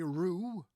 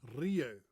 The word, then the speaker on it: Rieu: that's his name Andre Rio now it's a very unusual Dutch name because it sounds more French doesn't it r r in fact